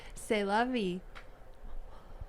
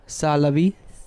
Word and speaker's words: C'est la vie: C'est la vie. Ça la vie. C'est la vie. It's spelled like C apostrophe ST Oh.